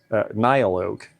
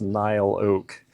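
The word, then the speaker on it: Niloak: to it NY o NY Oak I have to learn how to pronounce that I've called it NY o for years and it's NY Oak like almost like two syllables uh it's kin spelled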